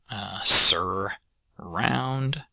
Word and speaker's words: surround: Next up, unstressed first syllable, surround, surround. If I were to give you surround as a word to transcribe, I'd be okay with the transcription either containing that R in it or not, because you've kind of